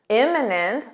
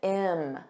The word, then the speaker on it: imminent: Imminent with an I, notice this pronunciation, im, imminent. Repeat after me, imminent.